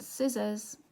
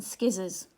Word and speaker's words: scissors: H in it and scissors has this C here okay right what really helps